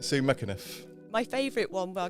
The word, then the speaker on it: McEniff: You have to say it quickly and pretend you're Irish, and it comes out. He took a real run up to it as well, didn't he? And don't pronounce the C.